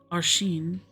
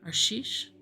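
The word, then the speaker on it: Arsheesh: Shasta on most days aren sorry arish my bad I said the name wrong arish arish e went out on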